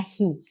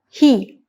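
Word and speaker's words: היא: Di sini alef kita baca secara silent, ya, sehingga kita membacanya he.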